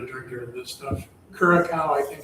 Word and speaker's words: Curaçao: So, the C has a little little Yeah, that little mark down there? Yeah, that's what pronounces it as an S.